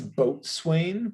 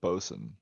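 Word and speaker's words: boatswain: we we we've found out how to pronounce pronounce this guy's name is it's boat swain but botswan but bosun bosun um boson is there um smoking her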